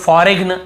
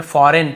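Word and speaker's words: foreign: जी silent है campaign फॉरेन बहुत से लोग फॉरेग्न ऐसे पढ़ते हैं मतलब याद रखने के लिए कई लोग ऐसे फॉरेगन ऐसे बोल देते हैं लेकिन हमें बोलना नहीं है लिखते समय हां आप गलत पढ़ के लिख सकते हो लेकिन आदत ना पड़ जाए कहीं आपकी फॉरेग ऐसे नहीं पढ़ना हमें फॉरेन पढ़ना है यहां पर भी जी साइलेंट है यहां पर देखिए नोम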